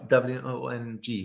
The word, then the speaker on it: Wong: Wong, did I pronounce it correctly? Yeah. W-O-N-G.